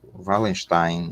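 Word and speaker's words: Wallerstein: O intelectual americano, o grande intelectual americano, Wallenstein, ou Wallenstein, né, na pronúncia alemã, Immanuel Wallenstein, ele, no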